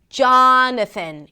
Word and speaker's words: Jonathan: So, Jonathan, it starts with a J sound, then the A's and father, jaw, and then n, an n sound, and a schwa.